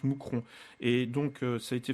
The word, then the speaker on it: Mouscron: au pluriel situé à mousron en Belgique enfin ça s'écrit Mouscron avec un S mais ça se prononce mousron et donc ça a